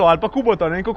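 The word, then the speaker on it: Kubota: -I have Kubóta or Kúbota I don't know how you say it in Ljubljana. -Kubóta.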